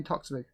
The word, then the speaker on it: Toksvig: It looks a bit like Sandy Toksvig. Toksvik, isn't it? No, Toksvig.